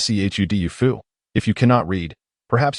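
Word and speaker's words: 臭豆腐: Stinky tofu, pronounced as c hud dufu.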